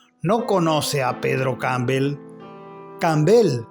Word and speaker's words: Campbell: Campbell, agregó acentuando mucho la última sílaba.